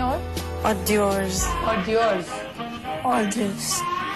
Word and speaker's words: hors d'oeuvres: Hors d'oeuvres.